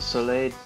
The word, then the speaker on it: Soleil: Remember Soleil from Fire Emblem, that's how you pronounce it. Soleil Deco.